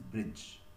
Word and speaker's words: bridge: The letters D, G, E, they together can be pronounced as J. Okay, so it is bridge.